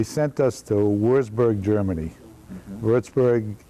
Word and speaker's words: Würzburg: us to würzburg Germany Lordsburg is how it's pronounced and that's the home